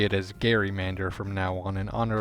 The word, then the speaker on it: gerrymander: This backstory is also why I've been pronouncing it as gerrymander throughout this whole video, instead of the more common gerrymander.